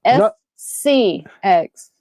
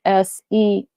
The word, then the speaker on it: SCX: No, SCX, not SEX. SCX. I'm sure it's a play on words.